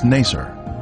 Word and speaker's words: Nacer: the using Gilley village its former name in the 19th century was Nacer this pronunciation is similar to nicer a village that the